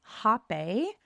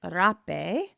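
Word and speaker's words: rapé: And I've heard it pronounced as hape. So that Lana calls it rape.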